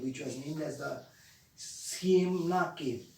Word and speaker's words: Ciemna: There were some caverns or archaeologists, those who went to that particular cave, which was named as the Siemna Cave. It's spelled as CIEMNA, Siemna Cave.